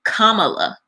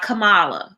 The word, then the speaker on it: Kamala: want y'all i mean i think it's respectful to say it how her parents named her with it indian pronunciation kamala it's not kamala okay it's kamala kamala harris we've heard